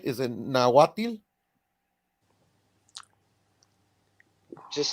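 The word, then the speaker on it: Nahuatl: you said it right I said it right natil okay yeah yeah like that so there you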